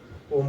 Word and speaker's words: ओम: इसे फिर होल्ड करके ओम का उच्चारण करना है। ओम, ओ बोलने के म का जो उच्चारण आता है, तो म को धीरे धीरे धीरे धीरे धीरे धीरे समाप्ति की ओर ले जाना है।